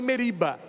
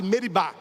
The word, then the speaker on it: Meribá: É por isso que aquele lugar, Moisés colocou o nome de massa e meriba. Nas leituras, geralmente a gente lê Massa e Meriba, mas a pronúncia certa é Massá e meribá.